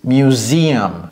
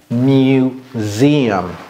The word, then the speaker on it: museum: Museum. Museum. Museum. Mew, c'est comme mew. Ok, c'est comme meow. Museum, museum.